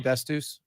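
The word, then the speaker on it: D'Astous: Is that how I say his name, Dastus?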